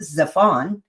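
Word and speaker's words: צפן: The primitive root word removes that vav and is still pronounced Zephon.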